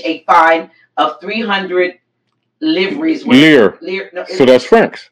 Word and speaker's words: livres: Lire. No, so that's francs. Well, spelled L-I-V-R. Yeah, lire. Okay. You don't pronounce the V.